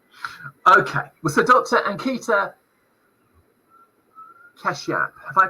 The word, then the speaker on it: Kashyap: Ankita Kashyap, have I pronounced that correctly?